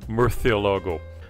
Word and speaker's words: Murciélago: spanish word for bat in the castilian spanish spoken in most of spain the word is pronounced murthyologo however the italian automaker often uses the southern spanish pronunciation murcielago which is caught on